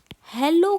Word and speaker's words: Hallo: लेकिन जर्मन में ए को हम आ की तरह प्रोनाउंस करते हैं।